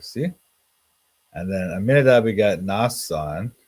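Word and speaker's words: Nahshon: And then Aminadab begat Nasan. That's this pronounced here Nashon. But here it's Nasan.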